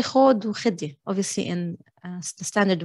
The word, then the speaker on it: خود: You can also say خود وخدي. Obviously, in the standard way of writing is with the ذا, but we commonly pronounce it as ذا. So خود from verb أخذ.